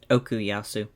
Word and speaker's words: Okuyasu: Is that how you pronounce his name, Okuyasu. Gav? Okuyasu.